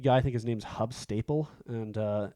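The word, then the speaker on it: Huub Stapel: Like I said, the lead guy, I think his name's Hub Staple, and it's probably pronounced like Hoob Stapel or something like that.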